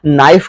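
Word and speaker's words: knife: नाइफ का मतलब होता है चाकू। देखिए यहां पर के लेटर को साइलेंट किया गया।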